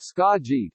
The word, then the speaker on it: Skagit: injunctive relief Friday morning Skagit County pronounced scott g between Seattle and the